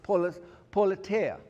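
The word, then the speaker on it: πολιτεία: And then there is a word that comes even further that is pronounced politea.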